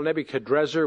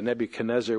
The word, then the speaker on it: Nebuchadrezzar: Well, first of all, Nebuchadrezzar, which your Bible probably has, is actually probably the more accurate pronunciation, but we're also used to the Nebuchadnezzar, which the Hebraized transliteration leads us to.